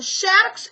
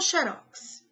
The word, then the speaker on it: xerox: É xerox ou xerox? Nesse caso, tanto faz. Você fala xerox ou xerox. Mas existem algumas palavras que não tá certo.